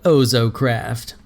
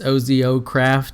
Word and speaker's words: OzoCraft: and it is called ozo craft I guess I'm pronouncing that right it's Ozio craft so yeah ohso craft